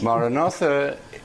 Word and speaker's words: Maranatha: Maranatha is the oldest Christian prayer. St. Paul ends the first letter to the Corinthians with it. It means, "Come, Lord." And we say it as 4 syllables, Ma, Ra, So what is Click Na, Up?